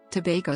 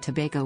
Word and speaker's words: Tobago: is /tp of slash rhyming with lumbago sago and Mako history pre-colonial era both trinidad and tobago were originally settled by